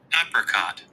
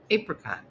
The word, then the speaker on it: apricot: You do want to stress on the first syllable.